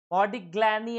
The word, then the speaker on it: Modigliani: Modigliani and Miller approach.